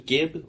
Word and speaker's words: gib: Like, I mean, it is short for fragmentation, I imagine, which is Gib? What's Yeah. Gib? Or Jib. It's actually pronounced Jib.